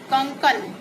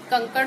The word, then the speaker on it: कंकड़: आगे है आपका कंकन। कंकन यानी कंकन, कंकड़ को जो है ड़ा की जगह पे ना का उच्चारण किया है, तो लिखते वक्त भी वैसे ही हो जाएगा, लेकिन शुद्ध रूप क्या है? कंकड़। कंकड़, कंकड़ मीन्स अड़ा लगेगा।